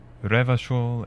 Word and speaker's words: Revachol: Revachol is pronounced Re-va-chol.